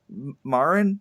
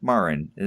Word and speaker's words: Marin: At least that's I've heard it pronounced both ways. My Hispanic friends pronounce it that way. I'll take them as authority over on that.